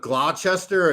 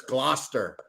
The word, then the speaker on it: Gloucester: give us an example instead of glochester it's gloucester instead of tauntan it's tottenham